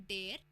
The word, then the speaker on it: die: सो हम मेल को बोलते हैं डेयर, फीमेल को बोलते हैं डी एंड न्यूट्रल को बोलते हैं दास.